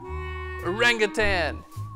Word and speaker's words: orangutan: Orangutan! Orangutan! What? That's not how you say it. Tang? There's no G at the end. There's no G at the end of that word.